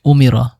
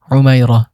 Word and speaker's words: উমাইরা: যার অর্থ অর্জনকারী 18 নাম্বার রয়েছে উমিরা বা এটাকে আরবি শুদ্ধ উচ্চারণ যদি আমরা করি উমাইরা যার অর্থ দীর্ঘজীবী 19